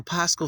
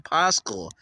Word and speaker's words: Pascha: So the Paschal Feast, the Pesach Feast. I don't know why they're saying Paschal. Paschal, that's stupid. Just say it right. But in their language, they say Pascha.